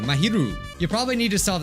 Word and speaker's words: Mahiru: behind maharaja's death or mahiro keeps saying it wrong mahiru you probably need to